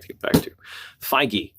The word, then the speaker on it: Feige: Feige, apparently, is how he pronounces his name.